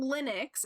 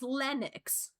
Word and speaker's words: Lennox: His name isn't Linux, it's Lennox.